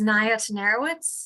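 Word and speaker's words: Naia Tenerowicz: My name is Naya Tenerowitz. That's spelled N-A-I-A-T-E-N-E-R-O-W-I-C-Z.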